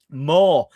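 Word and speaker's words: Maw: Moore, and it's spelled M A W.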